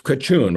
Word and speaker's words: Craciun: I'm in Bucharest, and my guest is It's Craciun, right? Yeah, Pronounced correct.